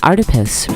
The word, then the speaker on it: Artipoeus: Artipoeus, pronounced like octopus because art is everywhere.